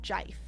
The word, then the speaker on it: GIF: I feel like David Lynch would pronounce it Jif.